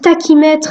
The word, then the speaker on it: tachymètre: et ils se font ils se prononcent tachymètre et non pas tashi m malgré qu'ils ses achats